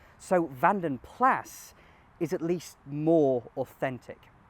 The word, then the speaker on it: Vanden Plas: But if we refer back to the history, we learn that it's a Flemish name. So Vanden Plass is at least more authentic.